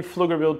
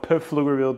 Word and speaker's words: Pflugerville: are we located guys we are actually in fluger Texas some people call it pfugerville Texas that's not the right where to pronounce it but I see your